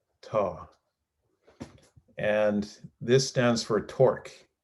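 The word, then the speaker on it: tau: means that well this is the greek letter tah tah some pronounce it tao ta the greek letter taw this guy this is known as the greek letter taw and this stands for torque so the net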